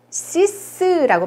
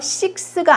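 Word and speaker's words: six: 6은 시스라고 발음해요. 요거 조심하셔야 돼요. 식스가 아닙니다. 시스라고 발음을 해요.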